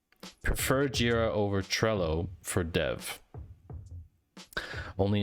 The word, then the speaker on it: Jira: i do like jira what i can't stand is people calling it gyra because jira actually has a help page titled how to pronounce jira properly so if anyone ever